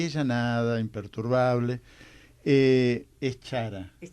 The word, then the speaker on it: Chara: Aparte quiero decir algo, lo educada que es, que le pronuncié mal el apellido, diciéndole Chiara, y ella nada, imperturbable. Es Chara. Es Chara.